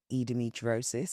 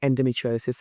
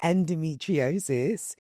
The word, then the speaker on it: endometriosis: So obviously I know a lot of women are being diagnosed with peacocks, fibroids and edometriosis. Did I say it right? Endometriosis. Endometriosis.